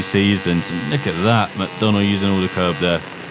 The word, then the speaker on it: MacDonald: I've only mispronounced like half a dozen names so far. I got the riders wrong. It's MacDonald.